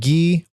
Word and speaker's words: Guy: later in the discography is that ian and gee are his name looks like it says his name is not guy it's spelled guy but it's pronounced uh they are